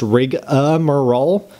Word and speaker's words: rigmarole: like this idiot did rigmarole is the way it's spelled but rig um is the way it's pronounced that's really weird in